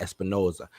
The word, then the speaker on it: Espinosa: The director, let me see, in an interview with Cinema Blend, Morbius director Danielle Espinosa, gotta say it like that, Espinosa, revealed in Spider-Man already exists in New York City that Jared Leto's Michael Morbius calls home.